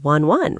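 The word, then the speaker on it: ワンワン: C'est marrant, parce qu'en japonais, ça se prononce « wan-wan », pas vrai ?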